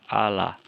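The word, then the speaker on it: ἀλλά: Ada contoh kata Allah, ya, transliterasinya A-L-L-A, bunyi ucapannya, cara membacanya Allah.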